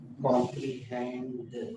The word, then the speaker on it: comprehend: बेटा इसमें आर है, वो एल बोल रही थी। कॉम्प्रीहेंड हमने सुबह के पेज पे भी सुना किसी को ये बोल रहे। ये देखो ना, इसमें आर का उच्चारण होता है कॉम रीड। देखो कॉम रीड हैंड, कौन सा हैंड? कॉम्प्रीहेंड। ठीक है।